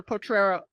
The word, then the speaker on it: Potrero: It's a bit of a tongue twister, Potrero.